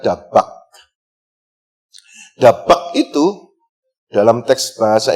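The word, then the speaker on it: דבק: Melekat kuat bersatu dalam bahasa Ibrani, dalam bahasa aslinya ditulis 3 huruf di sana, bacanya dari kanan, Dalet, Bet, dan Kaf. Dalet, Bet, dan Kaf dibaca dabak.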